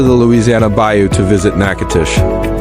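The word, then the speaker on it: Natchitoches: Let's head down to the Louisiana Bayou to visit Nacatish. Pronounced Nakatish, it's the oldest permanent settlement in the entire Louisiana Purchase territory.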